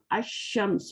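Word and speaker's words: الشمس: Ash-Shams, we are skipping the Lam. So these are called, all letters called Shamsiya, and these are all called Qamariya. In Al-Qamar, we are reading Alif, Lam, and here Ash-Shams, we are skipping the Lam.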